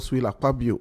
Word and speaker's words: Akpabio: akuti and Senator God aabo interestingly the two of them have ak ak at the beginning of their name a AIO but the K is silent now ATI and aabo